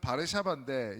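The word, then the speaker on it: Warszawa: 그래서 수도는 바르샤바인데 이제 영어식 발음은 뭐냐면은 W를 영어식을 이제 우로 발음하잖아요.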